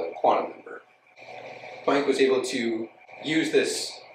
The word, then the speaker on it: Planck: Sometimes I'll say Planck, sometimes I say Planck. I think technically it's Planck, but you know, I'm American, not very good at actually pronouncing things correctly.